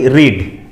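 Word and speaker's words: read: রিড। রিডের third form কি? Past participle form রিড, রেড, রেড। প্রোনাউন্সিয়েশনটা vary করে, স্পেলিংটা একই থেকে যায়।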